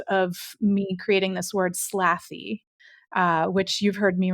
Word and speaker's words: SLATHY: was the impetus of me creating this word slaffy uh which you've heard me refer to a couple of times before that's spelled s-l-a-t-h-y and it's actually an acronym so